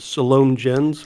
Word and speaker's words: Salome Jens: But this is played by, I believe, Salome Jens is the way it's pronounced.